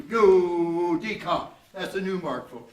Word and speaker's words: judicare: Judicare. Yeah, put a little accent on the D. 1, 2. Judicare.